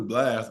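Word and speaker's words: BLXST: I never knew Blast was how you say his name. That's BLXTS.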